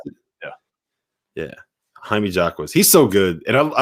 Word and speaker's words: Jaime Jaquez: Is that how you pronounce it? Yeah, Jaime Jaquez.